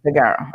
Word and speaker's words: Daggaro: the CEO of a company called is it pronounced thear is that the correct Taro yeah dearo okay so dearo um is uh if you check out their